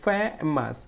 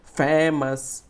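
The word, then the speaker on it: famous: দেখো এখানে ফে বলছে আর একটা মাস বলছে। এখন এই ফেটা আমাকে একটু জোরে উচ্চারণ করতে হবে বা একটু উচ্চারণ করতে হবে এবং এটা একটু লাউডলি মানে জোরে উচ্চারণ করতে হবে, শব্দ করে উচ্চারণ করতে হবে। এই জন্য এটাকে বলা হয় স্ট্রেচ। দেখো এখানে লেখা আছে ফেমাস,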